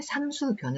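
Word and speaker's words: 삼수변: 합니다 장수 편입니다 이렇게 물 방 으로 바뀐 것을 보고 볼수 라고 읽으면 안 되겠지요 형태가 바뀌었고 위치가 요렇게 왼쪽으로 같기 때문에 3 수변 으로 읽어야 됩니다 3 수변 의 장애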